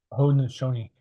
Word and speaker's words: Haudenosaunee: Is it the Haudenosaunee, right? That's how you pronounce it. Haudenosaunee.